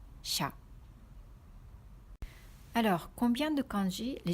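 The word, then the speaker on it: 車: Ce kanji signifie une voiture et ça se prononce kuruma ou sha.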